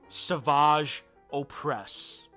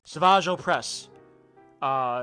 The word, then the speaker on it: Savage Opress: Savage Opress. His name is just Savage, and they just pronounce it in a fancy way.